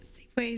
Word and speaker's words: Safeway: it any difference because I don't say Safeways what do you say Safeway how do you how do you say that not safe ways I don't get it cuz I there's clearly an s on the end of it you not read it